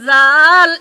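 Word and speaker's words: ذال: agar সাথে লাগিয়ে যার উচ্চারণ করতে হয় যার উচ্চারণ করতে হয় এর নাম জাল এর নাম জাল এর নাম জাল এর নাম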